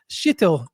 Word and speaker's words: Kjetil: particularly on Kuten and I've learned to say his name is Sheetil um Kudson.